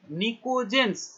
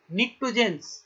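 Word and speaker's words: pnictogens: নিকোজেন্স, দেখো নিশ্চয় বানানটা বুঝতে, পি, নিকটোজেন্স বা বলে নিকোজেন্স।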